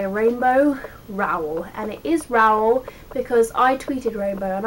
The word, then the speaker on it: Rowell: fan girl by rainbow rowell and it is raul because i tweeted rainbow and i asked her how do you pronounce your surname because people pronounce it differently